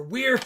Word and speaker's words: Weird: a wear farm or weird farm you got to make sure I quit saying where I got corrected in my video Rob it's pronounced weird and of course you